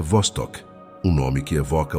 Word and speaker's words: Vostok: O elemento central deste mergulho é o lago Vostoc, que se pronuncia Vostok, um nome que evoca o isolamento e a descoberta.